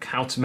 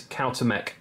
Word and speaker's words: Cuauhtémoc: Let's just quickly go back and have a look at Cuauhtémoc, because I put all of that research time into learning how to pronounce his name, all to not show him for very long.